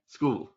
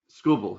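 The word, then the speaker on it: Skubal: Led by their uh their left-handed pitching uh who you mentioned him last year, Scrubble. Is that how you pronounce his man's name? Scooble. Really? That's how you pronounce it? Scooble.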